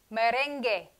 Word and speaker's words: merengue: Finally, G-U-E makes the sound que. Merengue, guerra.